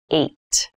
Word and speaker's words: eight: is the number h this has an interesting spelling it's pronounced eight eight is a lucky